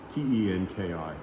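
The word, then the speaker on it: 天気: And the word for weather is tenki, Tenki. Of course, it's not ten because they don't use English, but it's the Japanese characters that are pronounced tenki.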